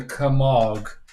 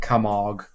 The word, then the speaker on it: Camargue: white horses is the Camargue. So apparently that's how you pronounce it. Camargue. There you go. So, just in case there was some kind of dodgy G or something.